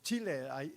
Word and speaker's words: Chile: Well, saudara, di Amerika Selatan, di daerah perbatasan antara Argentina dan Chile atau Chile, itu pronunciation yang tepat.